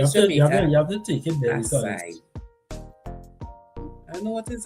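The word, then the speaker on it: açaí: Oh God, acai.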